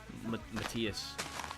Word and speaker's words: Matthias: Matthias. I feel like people have pronounced it so many ways. I'm pretty sure it's Matthias, though.